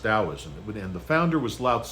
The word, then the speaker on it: Taoism: of Daoism taoism looks like taism but it's pronounced Daoism and the founder was La I've talked about